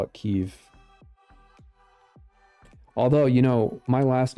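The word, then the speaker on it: Kyiv: so first of all she says I leave keev tonight it's not pronounced key Victoria newand pronounced Kev all right um I I realize that she's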